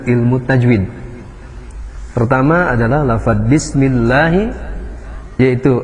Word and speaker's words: bismillah: Pertama adalah lafadz bismillahi, yaitu lafadz Allah yang didahului harakat kasroh itu dibaca dengan berbunyi A. Hukum bacanya adalah tarqiq, dibaca dengan bacaan tipis, bismillah. Kemudian lafadz Allahnya juga la-nya dibaca 2 harakat, karena hukumnya adalah mad tabi'i.